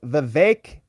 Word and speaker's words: Vivek: compliment and Ria says Vivek is pronounced like cake the VEC the vague like cake the vague like cake